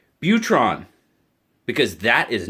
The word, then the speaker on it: Butron: ohlone knives butron now peter swears to me a therapeutic edge it's butron not boutron some i'm going with butron so i'm hopefully i'm